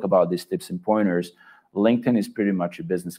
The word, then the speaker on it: LinkedIn: is said linkedin or i don't know like link it in or something like that pronounced like that please get your pronunciation correct it's linkedin that's how it's pronounced that's how it's pronounced